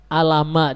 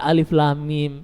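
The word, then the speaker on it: الم: Karena sebenarnya alama dibaca alif lam mim, iya kan?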